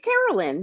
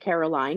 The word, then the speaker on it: Carolyn: It's Carolyn, but a lot of people pronounce it Caroline, and that's fine too.